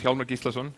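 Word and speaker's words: Hjálmar Gíslason: My name is Hjalmar Gíslason. That's the Icelandic pronunciation.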